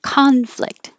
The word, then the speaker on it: conflict: same for Sheet spreadsheet if it's a noun it's conflict with an ah conflict you don't really make